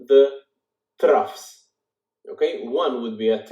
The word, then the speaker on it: trough: those are called the troughs okay one would be at rough TR Oh ugh even though there is a gh it is pronounced as an F okay so it's not